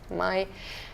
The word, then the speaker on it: Mai: Or Mai, what do you pronounce it? Mai. Mai.